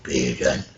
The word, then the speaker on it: Bearden: How do you spell it for me? B-E-A-R-D. Beard. But yeah, Bearden.